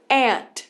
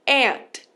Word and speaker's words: aunt: ant. A gente não tem esse U, né? Que a gente vai escrever A-U-N-T, mas na hora de falar a gente vai pular, tá? A gente vai fazer ant.